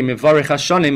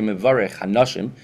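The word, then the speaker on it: מברך השנים: and he would say Mevarech Hashanim, he would mispronounce it, and he would say Mevarech Hanashim, Hashem who blesses a woman, and that brought down tremendous brachas for that city.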